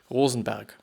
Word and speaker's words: Rosenberg: but yeah you know but in with German pronunciation it would be Rosenberg if you're interested I